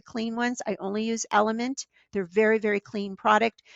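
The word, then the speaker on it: LMNT: my favorite products is element that's is spelled l m is in mother n is in Nanny t l m n t element and I do use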